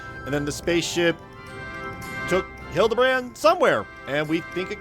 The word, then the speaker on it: Hildibrand: Since parting ways, I've searched every alien dive bar in Everkeep for signs of this Hildigrand character. It's pronounced Hild Debrand.